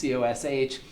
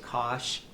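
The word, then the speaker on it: cosh: cosine so cos versus coosh cosine versus kosh there's no standard for the pronunciation of these hyperbolics some people will say k some people will say kosh and then the the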